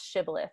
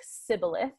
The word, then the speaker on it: shibboleth: they're identified by their inability to pronounce shibboleth they say it like sybilith right um and so they know that they're not a member of gilead right because they don't say it the right way so this is a